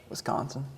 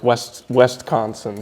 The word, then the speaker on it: Wisconsin: Wisconsin. Yeah, as long as you don't say like Westconsin.